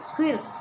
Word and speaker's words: squires: ஸ்குயிஸ் கிடையாது, ஸ்குயிர்ஸ். R வந்து silent ஆயிரும். ஸ்குயிர்ஸ்னு அது உச்சரிக்கிறதுக்கு ஒரு மாதிரி தான் இருக்குது. நீங்கள் ஸ்குயிஸ் அப்படின்னு படித்து வச்சுக்கோங்க. ஆகியோரின் பரபரப்பு மிக்க எக்ஸைட்டிங் சாகச செயல்கள் என்னது?